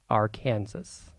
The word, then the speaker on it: Arkansas: Yes, in Kansas this river is pronounced Arkansas.